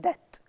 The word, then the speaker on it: debt: this unit the word debt what does it mean that and as you see the letter B is silent we say that so